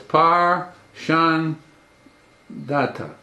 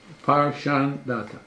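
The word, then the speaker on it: Parshandatha: But to give you one, when you analyze the name, it's either 3-syllable or 2-syllable. So it's Par Shan Data. Par Shan Data.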